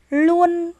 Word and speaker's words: luôn: lại nào tiếp theo luôn vất vả các em lưu ý tiếng luôn chúng ta phát âm là l luôn Vất và mời